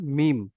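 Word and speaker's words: م: দুই ঠোঁটের শুকনো অংশ মিলিত হয়ে উচ্চারণ হয় মিম।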